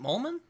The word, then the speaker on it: Mollman: There's only two vowels, two Wait, syllables. was it? Did I say it right? Mollman?